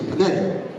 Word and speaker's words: paneri: A rainbow in Pahadi is called a paneri. That's the correct pronunciation, paneri.